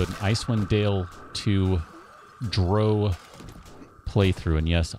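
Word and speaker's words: drow: ice one Dale to Dro playthrough and yes I say dro not draw because dro rhymes with moe not with cow even though Bob will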